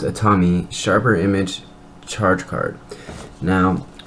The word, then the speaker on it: Atomi: here is the Atami I think it's just pronounced a Tommy sharper image charge card